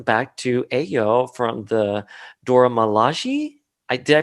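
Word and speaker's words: Dora Milaje: he traces them back to ayo from the dora malaji i did i pronounced that right yeah yeah yeah you did the dora milaji and ayo is like i want zemo because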